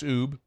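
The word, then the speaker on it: Oubre: Muse and Paulie don't know how to say the name Oob. I'm stunned by that. O-U-B-R-E, Oob. I can't believe it. It's a very common name in this state.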